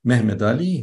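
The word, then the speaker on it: Mehmed Ali: name is Muhammad Ali or to use the Turkish pronunciation of his name because he was an ethnic Turk mhmed Ali who comes from an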